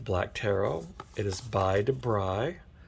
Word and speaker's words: Dabrigh: website the first time, they actually have a little voice um button that you play and for the pronunciation of the names, and they do say Debri.